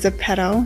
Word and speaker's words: Zepeto: and as the pedo I think the correct way to pronounce that is the pedal but I like to call it the pedo and this is where